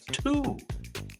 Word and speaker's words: Tew: This gentleman's name was Thomas Tew. T-E-W. Thomas Tew. I think you have to say it like you have a speech impediment, and then you got it.